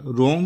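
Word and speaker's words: wrong: रॉन्ग में W silent होता है, इसे नहीं पढ़ा जाता।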